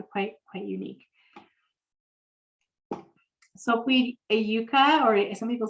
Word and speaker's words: yucca: the yuca comes from that's why i say yucca and i traveled in south america and i got a fond of the way of pronouncing the word yuka but uh most people here say yucca and so this is